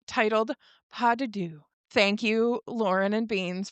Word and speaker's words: Pas de Deux: Today we are on episode 6 titled Padu. Thank you Lauren and Beans for the pronunciation cuz I didn't know how to say it.